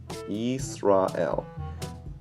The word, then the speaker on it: Yisrael: So yees, ra, el. Yisrael. And then the next word.